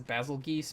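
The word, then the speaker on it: Bazelgeuse: geese or is it bagel juice or bagel goose i don't know people call it whatever i know the actual pronunciation is basil geese but i like the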